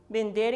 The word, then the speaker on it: vender: os compra verbo vender chama atenção aí para vocês da pronúncia da letra v que em espanhol nós pronunciamos como se fosse uma letra b vender então se você quer